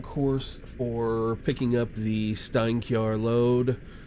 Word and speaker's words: Steinkjer: The Norwegian job is going to Steinkjer. Steinkjer, Norway. I'm not sure if I'm pronouncing that right. Is that right, Miles? You're pretty close. It's actually pronounced more like Steinkjer in Norwegian, but honestly, you're doing great.